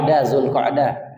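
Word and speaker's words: Dzulqa'dah: Yang benar bukan Zulqa'dah. Ibu, kenapa saya senang? Ibu betul cara pengucapannya. Zulqa'dah. Tanggal berapa? 21. Yang bikin saya tadi senang, Ibu, banyak orang Zulqa'dah. Nah, yang benar adalah kasroh, bukan sukun. Zulqa'dah.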